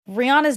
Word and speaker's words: Rihanna: just roll that's like Rihanna's name is Rihanna her own that's how she says her name Rihanna I mean I'm saying it really really American I've been saying it wrong this whole time we all have and